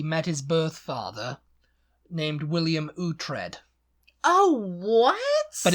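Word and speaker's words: Uhtred: 50s yeah he met his birtha named William utre oh what but it's spelled o u t um h i e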